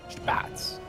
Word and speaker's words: Spatz: Spatz. And how did you figure out that's how you say it? I'm going off Steadfast there. That's how Steadfast says it, and I think it sounds good.